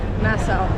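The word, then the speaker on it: Nassau: Nasau.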